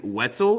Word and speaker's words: Wetzel: I know we need to introduce you is Joanne Wetzel. Is that right? Yes. Yep, you got it. Pronounced it correctly. I didn't know if it was Weatzel or Wetszel and I was like, "All right, we're going